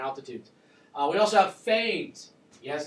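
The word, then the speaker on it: foehn: uh we also have faines yes it's pronounced Fain I know it's an e but it's pronounced with a long a these are warm dry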